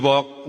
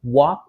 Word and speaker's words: walk: Cara bacanya huruf A-nya diganti O terus huruf L-nya enggak usah dibaca.